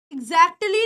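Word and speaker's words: exactly: बन जाता है एटली इसमें टी की साउंड है ना ये ऑलमोस्ट साइलेंट है एगजैक्टली नहीं बोलते इट इज ऑलमोस्ट साइलेंट लेकिन होती है तो कैसे हो गया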